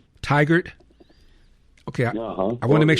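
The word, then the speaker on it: Tigard: You know, it almost sounds like tiger, but it's tiger.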